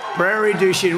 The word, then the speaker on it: Prairie du Chien: Prairie du Chien.